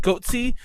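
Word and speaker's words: Goatse: It's like Goatsy, but it's pronounced Goatsy.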